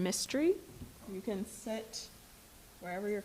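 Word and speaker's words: Mistry: Mystery. I live in Waldorf, Maryland, 2935 Merchant Court. And my name is spelled just like Karen with an H.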